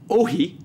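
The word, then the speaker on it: όχι: There's a call for everyone to hang the word "ohi" I think it's pronounced Ohi, even though it's spelled Uxie, which means no, from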